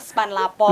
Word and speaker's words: SP4N Lapor: Pengaduan masyarakat melalui Span Lapor atau bukan sih Span Lapor. SP4N Lapor gitu SP4N Lapor, tapi dibacanya memang Span Lapor.